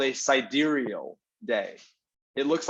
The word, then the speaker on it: sidereal: So it's pronounced sidereal. Sidereal, yeah. Right, sidereal.